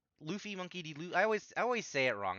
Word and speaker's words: Luffy: boring um monkey deffy or I always it's Luffy right it's Luffy Monkey De I always I always say it